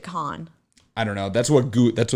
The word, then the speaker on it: Cannes: Oh, it's not Cannes. I knew it. It's Cannes. I looked it up. It's Cannes. Oh, really? Yeah, because I was so worried about mispronouncing it that I looked up how to pronounce it on Google, and then I still mispronounced it. Interesting, because my ex, they pronounced it con.